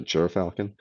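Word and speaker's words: gyrfalcon: all 80 excuse me uh gur jur falcon for your falcon that's how you say it silly word largest falcon in the world and they call it the jer falcon all 88.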